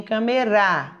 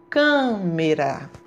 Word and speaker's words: câmera: já na palavrinha câmera eu não falo com a meira e nem kamerar eu falo câmera tão cam câmera cam foi pronunciado de forma mais forte eu já sei onde que